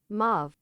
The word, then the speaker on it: mauve: Pronun pronounce pronunciation. Mauv. Yeah, it's mauv. Mauv. Movie. You say maui.